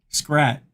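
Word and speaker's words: Schratt: one a two T's I always spell it wrong I always s h r a a t but it's s c HR a TT Scrat Michael Scrat very good bar what a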